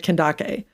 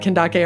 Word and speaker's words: Kandake: to as the oneeyed kandake. Kandake, which is interestingly like where we get the like modern name Candace, you know, it's that's like how it's spelled um except for with a K.